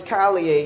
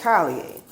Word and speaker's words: Collier: our genetic legacy, Alex Collier. I call them Collier instead of Collier because, I'm from Louisiana, and so when you hear IER, you think of yay, which is how it's pronounced in French.